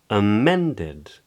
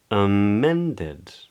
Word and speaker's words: amended: Amended. Amended. Yeah, that's the stressed part of the word, and I'm changing the pitch of my voice.